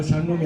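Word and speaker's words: שלום: 샬롬. 예, 발음 잘하셔야 돼요. 샬롬이 아니에요. 샬롬.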